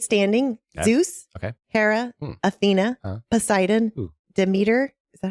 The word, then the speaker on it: Demeter: And the last 8 standing, Zeus, Hera, Athena, Poseidon, Demeter.